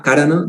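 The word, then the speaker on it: kāraṇa: i just mistaken them i would take it as karna with a long a karana that means the reason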